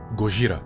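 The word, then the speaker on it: ゴジラ: E Godzilla porque é a pronúncia em japonês de Godzilla. Gogra.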